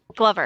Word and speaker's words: Glover: Glover. Glover? Glover? Glover. Yeah, so it's like Okay. glove with an R.